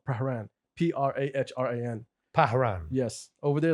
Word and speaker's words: Prahran: He's like, Pran. I'm like, the fuck? There's another R. There's like missing letters here that we don't need. So it's Pahran? When you see it, you can Yeah. pronounce it Prahran.